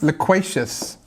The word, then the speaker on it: loquacious: Okay, the word we're looking for here is loquacious, and loquacious has the stress on the second syllable.